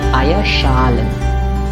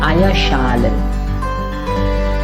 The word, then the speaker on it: Eierschalen: So Eierschalen. That's a compositum there, so Eier should be pronounced. Eier should be stressed. So it's Eierschalen.